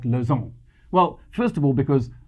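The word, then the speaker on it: Lozärn: with a name like Lozarn? Well, first of all, because Lozarn is a way cooler name than either Smuts or Doornbosch. But second of all, because Lozarn is the Swiss-German pronunciation of Luzern, and Luzern is the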